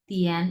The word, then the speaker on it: 点: তিয়ান এটা একটু তোমার উচ্চারণে একটু ঢেউ আসবে, তিয়ান।